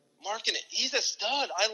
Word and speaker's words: Markkanen: Markkanen.